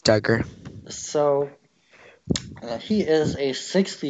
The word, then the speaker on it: Dugger: some child dude your Duggar I never really did learn how to say it I think it's Duggar yeah I think it's Duggar so he is a